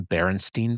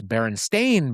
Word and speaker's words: Berenstain: Like people said the Berenstain Bears. It's Berenstain Bears. Right. But everybody thought it was Steen because just people said that.